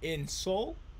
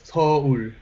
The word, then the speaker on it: Seoul: But Korea's not that big, so Now you said your dad grew up in Seoul. How do you say that? It's two syllable. It's Seoul. Seoul. Seoul.